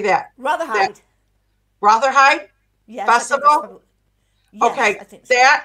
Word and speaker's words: Rotherhithe: You know, Barry Duckett, who puts on, now another word I can't pronounce, Rotherhithe? How do you say that? Rotherhithe?